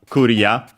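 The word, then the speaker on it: クリア: As for its accent, is actually like in English because it's on the re, so yeah, clear, Korea, low, high, low, and yeah, clear in all the possible meanings of the word, practically.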